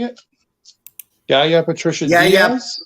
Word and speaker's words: Diaz: Yaya Patricia Diaz? Diaz.